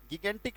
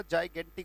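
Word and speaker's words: gigantic: Massive है, huge है, जाइगेंटिक, गिगेंटिक नहीं पढ़ना है, बहुत सारे बच्चे इसे गिगेंटिक पढ़ते हैं, इसका उच्चारण जो होता है वो बेटा जाइगेंटिक होता है।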